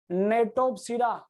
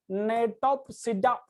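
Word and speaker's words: Gnetopsida: और सबसे advanced gymnosperm है नेटोप्सिडा, जी silent here, नेटोप्सिडा, नेटोप्सिडा, जी is silent here, नेटोप्सिडा।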